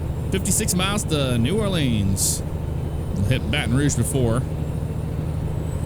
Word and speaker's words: New Orleans: New Orleans. But you can say it like Nolans.